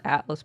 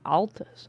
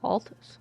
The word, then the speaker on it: Altus: Altus Plateau. Definitely not Atlas Plateau. Altus. Altus. Altus. I would never mispronounce it.